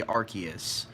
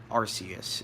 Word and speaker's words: Arceus: You don't say Arceus. It's Pokemon Legends Arceus, so Arceus is the correct way to pronounce it.